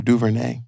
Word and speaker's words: DuVernay: I never pronounced the last name. DuVernay.